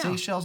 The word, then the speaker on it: Seychelles: I think it's pronounced the Seychelles. Yeah. Seychelles. No, not seashells.